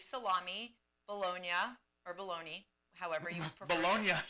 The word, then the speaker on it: Bologna: Bologna, that's the pronunciation of the place in Italy.